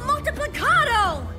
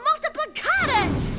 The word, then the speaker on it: Multiplicatus: Crystal Multiplicato! Oh, pronounced it wrong. Crystal Multiplicatus!